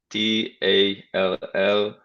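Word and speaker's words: Tallós: I will tell you the Hungarian name. It's spelled Tallos, Tallos. Oh, that's good, Tallos.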